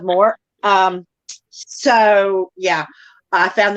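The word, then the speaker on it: Moher: the cliffs of moore i kept saying it wrong the whole time i kept calling it the cliffs of mohair and that's not it that's it's cliffs of moore um so yeah i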